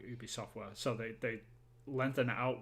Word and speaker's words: Ubisoft: software, like Ubisoft, like Ubi software. So they lengthen it out way too much, sort of thing. But like in France, though, it's Ubisoft, like U, and that's how we pronounce it in Montreal as well.